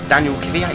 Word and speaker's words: Kvyat: But as we are now closing on Daniel Kvyat, yep, that's how you say his name.